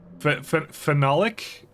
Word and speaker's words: phenolic: The pronunciation is as phenolic.